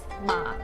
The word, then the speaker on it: Ma: me explain the surname horse is read as ma in mandarin ma in cantonese and ma in